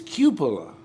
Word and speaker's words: cupola: spelled, and italicized means the accent is on the first syllable, and the first syllable is spelled Q-E-W. And if you push the button, they pronounce it. It's cupola.